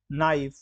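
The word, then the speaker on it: knife: इसी प्रकार से बहुत सारे ऐसे शब्द हैं, नाइफ, ऑनर, आवर, ऑनेस्ट। तो इन सारे शब्दों में जो पहला अक्षर है, जो पहला अल्फाबेट है, वह साइलेंट है।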